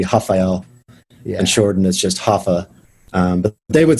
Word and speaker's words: Rafa: named him raphael and they pronounced their r's with like an h so it would be rafael and jordan is just hoffa but they would spell